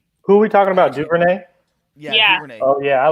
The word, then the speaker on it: Duvernay: Duvernay?